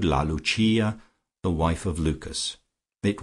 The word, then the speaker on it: Lucia: intimate of her subjects as Lucia, pronounced, of course, in the Italian mode, La Lucia, the wife of Lucas.